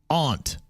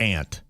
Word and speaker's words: aunt: They said aunt is pronounced aunt, not ant. Aunt is an insect.